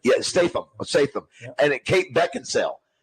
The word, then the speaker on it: Statham: How do you pronounce his name? Statham.